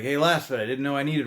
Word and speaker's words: LASFIT: At least I think that's how you say it, LASFIT.